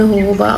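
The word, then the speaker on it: jojoba: अब इसमें होहोबा ऑयल या जोजोबा ऑयल, जो भी आप प्रोनाउंस करते हैं, वो हम इसमें ऐड करेंगे।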